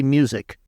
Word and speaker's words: MUSQ: font okay how do is that the correct pronunciation of it m musq or is it do you just say music people say music it's the musq is the